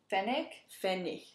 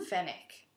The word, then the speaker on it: Pfennig: Pfennig. The G is a little bit softer. Okay. Mm-hmm. Pfennig.